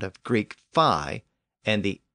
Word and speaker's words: Phi: by the Greeks but I'll use the more modern pronunciation fi as in the fraternity and sorority names part of the difficulty